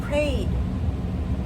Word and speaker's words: prayed: Just prayed. Just one syllable. Prayed. Pray would be two syllables. That's wrong.